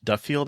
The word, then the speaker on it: Duffield: because like Brian uh Duff Duffield I think is is how you say his last name he wrote and directed